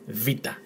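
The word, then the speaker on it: βήτα: Now, this is the letter vita, as in Rivita. That's how you correctly pronounce it, vita. And when you see it in a word, it's pronounced V, as in very, Van or Van Dyke.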